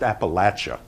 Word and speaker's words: Appalachia: I want to talk about Appalachia which is pronounced Appalachia is anyone from West Virginia do we have